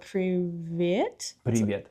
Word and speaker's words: privet: It's like the the tongue just like I probably didn't say it right but preiet.